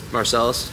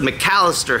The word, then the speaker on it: McAlister: up we're going to how do you pronounce this marcelis it's the mallister house not to be confused